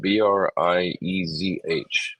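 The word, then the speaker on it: Breizh: That's how you pronounce it. Briezh.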